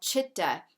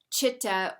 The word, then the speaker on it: chitta: a vibrational spectrum so in yoga it's called chitta it's spelled c-i-t-t-a chitta or um if that was translated roughly speaking